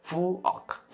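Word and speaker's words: 부엌: सक्नुहुन्छ है त्यही भएर ग ख अनि क यो तिनवटा अक्षर चाहिँ यदि फाच्यमको रूपमा तल झुन्डेर कुनै पनि शब्दमा आयो भने हामीले यसलाई आधा क उच्चारण गर्छौँ फलस्वरूप फु अनि अ अनि यो ख भए तापनि यसलाई आधा क फु अक भनेको भान्सा कोडा अनि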